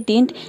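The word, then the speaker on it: didn't: डिंट का प्रयोग होगा डिड नॉट को हम शॉर्ट फॉर्म में बोलते हैं डिंट या फिर इसको डंट भी कह लोग प्रोनाउंस करते हैं दोनों प्रोनंसिएशन बिल्कुल करेक्ट है आप इसको डंट भी बोल सकते हैं और डिंट भी बोल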